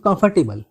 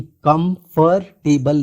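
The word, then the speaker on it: comfortable: ठीक है, और हमेशा याद रखना है कि कंफर्टेबल नहीं बोलना है। ठीक है, आर साइलेंट होता है। ठीक है, और टेबल भी नहीं, टबल होता है।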